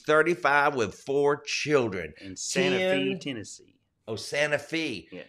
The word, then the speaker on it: Santa Fe: It's spelt like Santa Fe, but if you're in Santa Fe, Tennessee, and you say Santa Fe, what'll happen? Well, you get run out of there.